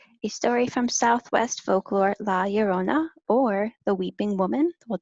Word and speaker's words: La Llorona: So the way that you say her name is La Llorona, and it translates to the weeping woman.